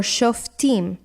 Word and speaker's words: shoftim: Next we have shofet or shoftim, with the accent on the last syllable, means judge or in plural, judges.